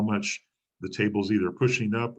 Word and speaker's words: mu: We use the little Greek letter, looks like a U, it's pronounced mu.